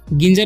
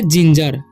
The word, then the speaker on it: ginger: तो जी का उच्चारण यहाँ पर हो जाएगा ज। ठीक है। गिंजर नहीं पढ़ना है। और आई का ई, जी। और एन का हो जाएगा न। ठीक है। तो अनुस्वार समझ लेंगे। और जी ई है तो उसका उच्चारण ज ही होगा और आर कर रहा, तो इसे हम पढ़ेंगे जिंजर। ठीक है।